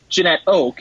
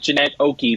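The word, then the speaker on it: Janette Oke: Like, basically, Jeanette Oak, and also, I thank you for the pronunciation guide in the book. I've been pronouncing it Jeanette Oakey for years and years and years.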